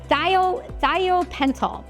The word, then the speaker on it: thiopental: Hospira makes a drug, or used to make a drug, called sodium, I've been told I say it wrong, it's thiopental, okay?